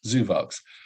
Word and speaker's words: Zuvox: a new species which we call zuvox I'll pronounce it zoovox and then you know